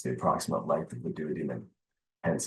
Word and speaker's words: duodenum: down the shame that there's a correct versus an incorrect pronunciation of the word duodenum. And it's pronounced duodenum because, again, you can't change the dead language.